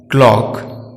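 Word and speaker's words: clock: सी को जब के पहले रखा जाता है तो साइलेंट रहता है, जैसे ब्लैक, क्लॉक।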